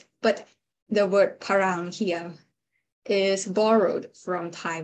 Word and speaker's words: pharam: And like the word farang in Thai is borrowed into parang in Bali, because Bali has no f sound. So it is with a little bit of adaptation, it's changed into parang.